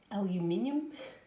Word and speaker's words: aluminium: Aluminium? I think you guys in the US pronounce that aluminum, don't you? But yeah, aluminium for us in Australia.